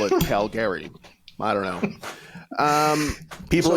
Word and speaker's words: Calgary: do the Stampede Wrestling don't don't call it Calgary Jesus isn't that how it's pronounced oh my God no no it's Calgary it's Calgary okay I have to